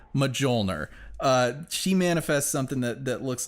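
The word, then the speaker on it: Mjölnir: __ ] Thor's hammer medjool nur that's how you say it medjool nur she manifests something that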